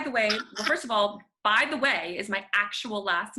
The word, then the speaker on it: Bytheway: way first of all by the way is my actual last name which is super fun um it's pronounced just the way it is spelled it's a prepositional phrase i i have so